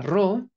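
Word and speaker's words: ρ: es una ro la ro se va a a pasar a español como una r no pronunciar así como si fuera una doble r Ajá muy bien la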